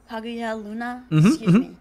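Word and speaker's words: Kaguya Luna: and I and kagya I always have issues pronouncing her name I think it's like the G Hagia Luna yep you got it I started watching them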